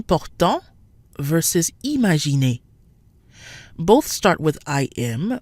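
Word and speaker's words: imaginer: and the N are not in the same syllable and so no nasal sounds are triggered imagine a so we said that vowels plus in or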